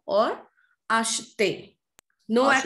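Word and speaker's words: achetez: There the pronunciation is not asheton or ashete. It's ashton or ashte.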